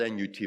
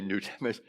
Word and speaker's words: Nut: Now it's spelled N-U-T, but I don't want to say nut. I want to say newt.